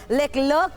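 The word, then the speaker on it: Leclerc: हालांकि इसको फ्रेंच में लेक्लेयर कहा जाता है, लेकिन लेक्लर्क के नाम से भी इसको प्रोनाउंस किया जाता है, क्योंकि ये फ्रेंच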